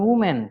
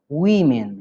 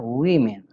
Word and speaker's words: women: Ingat cara bacanya bukan woman tapi women, ya, women.